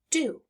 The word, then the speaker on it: do: It's making the sound D, but the O is making the ooh sound.